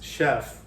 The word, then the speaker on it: chef: That sound in French is sh. So it's chef.